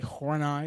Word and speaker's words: Horney: Last name is spelled Horney but it's German. And so it's actually Horney is how you how you pronounce that.